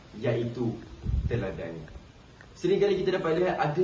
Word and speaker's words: teladan: Yang betulnya adalah sebutan teladan. T E kita N d a n dan teladan. Jadi dekat sini saya melampirkan dua daripada segi kesalahan ejaan mahupun kesalahan tatabahasa. daripada segi kesalahan ejaan seperti yang kita katakan tadilah tauladan dan teladan t u ataupun t jawapannya adalah te teladan tapi daripada segi tatabahasanya